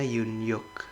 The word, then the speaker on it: Yoon-hyuk: Bacanya Yoon-hyuk.